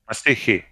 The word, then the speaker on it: مسيحي: no, a Christian is individual. I say مسيحي. Masihi.